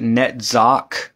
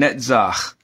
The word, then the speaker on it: Netzach: of people pronounce it netz net the letter never makes a k sound it does not however